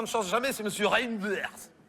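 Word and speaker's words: Reynders: C'est monsieur Reinders. Non, Reinder ça se prononce comme ça c'est Reinder. Ah non, là je peux pas vous le passer.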